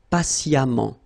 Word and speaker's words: patiemment: So as I told you, even if you write it E-M-M-E-N-T, phonetically it goes like amant, patiemment.